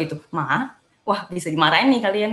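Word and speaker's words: 妈: Jadi nomor 1, nada ke-1 ma gitu. Cara bacanya ma. Artinya apa sih ma dalam nada 1 itu? Artinya adalah ibu, mama gitu. Cara bacanya mama gitu.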